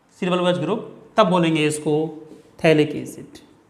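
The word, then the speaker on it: phthalic: Group तब बोलेंगे इसको थैलिक एसिड। इसका पीएच साइलेंट होता है, इथैलिक नहीं बोलेंगे, लेकिन आप क्या बोलेंगे पीएच साइलेंट करते हुए थैलिक एसिड।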